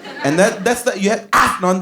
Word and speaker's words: Afnan: And you have Afnan. That's how you say it. That's the proper pronunciation. Afnan. You have to have the A in the Afnan because A is actually a letter in Iran.